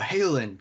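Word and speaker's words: Haolinn: see you my friend hayland at ostrow is this character's name all right we're feeling it we good good sounds perfect did you spell that first name it is h a o l i double n looks a little weird on paper but it sounded good to me yeah it's not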